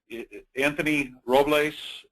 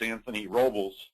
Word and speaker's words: Anthony Robles: Anthony Robles, at least that's how it's pronounced if you're in Arizona State country where Minico is. If you're back east, it's Anthony Robles.